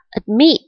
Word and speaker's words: admit: Chẳng hạn, động từ này chúng ta đọc là admit, trọng âm rơi vào âm tiết thứ hai, meet, đúng không?